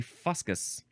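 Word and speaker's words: fuscous: It sort of looks like fuscus. It's like couscous, but it's fuscus, but it's actually fuscus.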